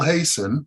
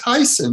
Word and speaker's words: Hayssen: the fact that you hasten it's really it's pronounced heisen many people say i